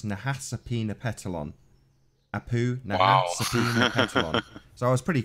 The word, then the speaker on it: Nahasapeemapetilon: ma p ET IL o n so it's Nahasapeemapetilon apoo so I was pretty place so how's